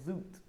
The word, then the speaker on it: Zoet: this what's funny is actually pronounced as Zoot in Dutch because it means sweet